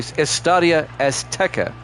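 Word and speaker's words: Estadio Azteca: Estadia is actually Estadia Esteka Mexico City is how you pronounce that week four here at Jam Sports.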